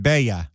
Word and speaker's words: Bella: She pronounces it Bea.